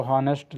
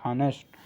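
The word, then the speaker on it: honest: तो आप देखेंगे कि यहां साइलेंट वर्ड हमारा इसमें मौजूद है क्योंकि यह तो हनेस्ट शब्द से अगर हम पढ़ें तो हनेस्ट लिखा है लेकिन इसको हम पढ़ते औ से है ऑनेस्ट हेयर को हम हेयर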